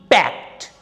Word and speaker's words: packed: and this h is silent and ed is pronounced as helped he helped me packed p-a-c-k-e-d pact the bundle is packed with a polythene paper